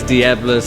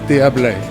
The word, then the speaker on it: Diables: But if you actually do pronounce it correctly, it's uh Diabé and you don't pronounce the um E S on the end as you know because you're the French expert.